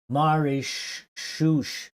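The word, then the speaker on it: Mauritius: It's pronounced marish. What the hell? Where does the s and the h come from?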